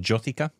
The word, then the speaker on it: Jyothika: I always mispronounce her name. Is it Jyothika?